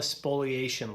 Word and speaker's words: spoliation: what is called a spoliation letter. It's sounds like spoilage, but it actually is spelled a little different, but it has the